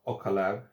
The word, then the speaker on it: Ocaleb: bit more um this one's made this is pronounced ocala um i haven't used their brand before but